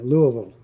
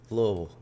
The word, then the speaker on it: Louisville: Got to pronounce that right. Yeah, Louisville. Louisville.